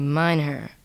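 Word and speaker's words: mynheer: of a male netherlander or dutch-speaking man okay mine her mine here mine her are there any alternate pronunciations for that mind her M her mine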